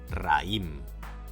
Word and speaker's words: raïm: Però no les pronunciem així i, per tal de separar-les, col·loquem una dièresi sobre la i: ra-ïm.